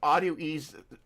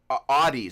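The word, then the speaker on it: Audeze: Uh I got those audio ease. Oh. Oh, right. Right. So those Oh, right, right, right. Um Audies, that's how it's pronounced.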